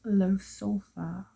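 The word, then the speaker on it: Ljosalfar: That's actually pronounced low sulfur.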